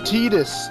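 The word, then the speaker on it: Tidus: walk are all wrapped up in their ballgame pronounced teetus selfie get it right not today sorry why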